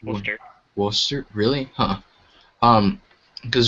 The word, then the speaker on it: Worcester: because I know um Worchester oh has what Worcester it's pronounced Worster wer really huh um